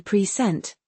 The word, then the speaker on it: present: Consider the word present. If you stress the first syllable p sent, it means a gift or the current time. And if you stress the second syllable, if you say present, it's a verb meaning to give or introduce something.